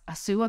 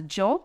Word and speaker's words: Hsu: they say, oh, okay, now my name Sue, so H-S-A-U and spelling, and in kanji we use the kanji in Japanese too, but Japanese people are told to call, pronounce or read the kanji as a Joe instead of Hsu.